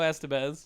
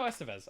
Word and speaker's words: Estevez: yeah oh yeah and like it's got emilio esteban or uh uh i just said his name wrong didn't i oh no estevez i was right it's a sequel not a